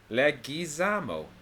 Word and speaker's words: Leguizamo: Apparently, it's pronounced. I was disappointed to find out. Leguizamo.